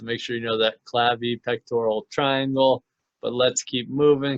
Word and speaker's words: clavipectoral: This is the clavi pectoral triangle. Probably mispronounced that, but that is the triangle that's formed from in between the clavicle and the pectoral girdle.